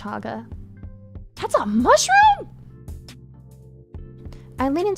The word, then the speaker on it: chaga: Ground this is a cha mushroom it is pronounced chaga that's a mushroom I leaning towards the fungus